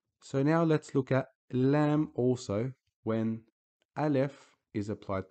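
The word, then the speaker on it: لا: When you see it, just know that it is pronounced as La, like the word La'ib.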